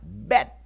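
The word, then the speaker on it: ב: o labio dental que en hebreo se pronuncia bet esta letra representa dos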